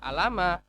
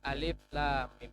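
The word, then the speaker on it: الم: Bukan dibaca alama, bukan alam ro, tapi alif lam mim.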